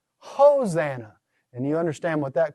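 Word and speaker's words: ὡσαννά: It's going to be a rough breather, so not Hosanna, Hosanna.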